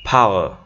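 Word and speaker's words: power: উজ্জ হবে, তাহলে ফাওয়ার নট ফাওয়ার, হ্যাঁ অথবা পাওয়ার এভাবে যে বলি এটা না। হ্যাঁ প্রথমে পি এর উচ্চারণটা কি? ফি। তারপর আর এর উচ্চারণটা কি থাকবে এখানে? উজ্জ থাকবে, তাহলে ফাওয়ার।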